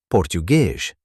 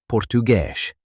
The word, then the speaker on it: português: The letter S at the end of a word often sounds like sh. For example, português, português.